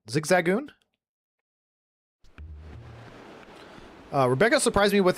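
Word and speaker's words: Zigzagoon: Zigzagon.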